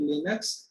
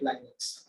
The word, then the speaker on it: Linux: तो आप even in corporate world people call it लिनक्स and people call it लाइनक्स, ठीक है। क्यों? दोनों प्रोनाउंसिएशन बराबर है, आपको जो बोलना है, ऐसा नहीं कि कोई ढंग है अच्छा है।